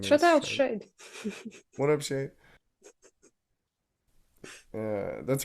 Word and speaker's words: SHAED: SHAED, stylized SHAED, pronounced as quote unquote SHADE, as in shade, pronounced shade, like so.